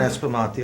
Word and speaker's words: Aspromonti: Aspromonti! Get your Come ass on, out! Joe! I even Woo!